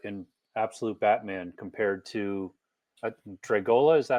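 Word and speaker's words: Dragotta: I'm curious to see what you think of the new art in Absolute Batman compared to Dragola. Is that how you say his name? Yeah, Dragoda.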